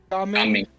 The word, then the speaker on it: Gaming: How do you pronounce his name? Jaming? Gaming.